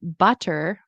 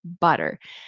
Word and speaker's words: butter: Or instead of saying like um butter or water, you want to say water. butter.